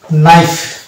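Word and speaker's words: knife: হওয়ার কথা কিন্তু না নাইফ ইজ a wrong pronunciation it's actual actual প্রোনাউনসিয়েশন will be নাইফ আমরা জানি নাইফ মানে ছুরি ছুরি যেটা দিয়ে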